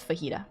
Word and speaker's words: fajita: No, it's fajita, right? Right? Fajita. The J is an H.